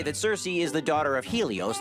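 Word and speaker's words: Circe: Last, but certainly not least, is Cersei, or Kirky, as it's sometimes pronounced.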